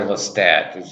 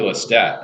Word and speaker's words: Lestat: take it's not actually Lestat it's French it's Lestat and n Rice's actually said that just like Baltimore you don't pronounce the T just like JK Rowling